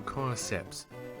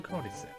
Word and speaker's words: Cordyceps: Will Redemption win, or will Cordyceps pull out again?